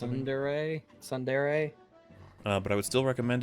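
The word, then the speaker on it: tsundere: Example, being Sundere, that's how it's pronounced. Sundere.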